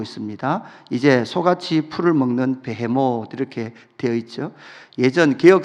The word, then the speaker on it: 베헤못: 개혁 계정으로 바뀌면서 이것을 히브리 발음 그대로 베헤못 리워야단 요렇게 번역을 했습니다 여기서 베헤못이라는이 단어는 당일